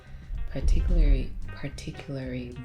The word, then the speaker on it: particularly: So over time, it evolved into a day where people exchange cards, gifts, flowers, particularly roses. Oh, that's still not the word. Particularly No. roses. You're missing the L.